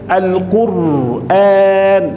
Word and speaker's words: القرآن: الأولى القرآن، شايف القرآن، هذا النطق السليم.